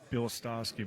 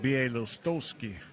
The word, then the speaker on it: Bielostozky: last name it's uh i always said bilstowski but he said it's pronounced b.a lostowski so i like that i'm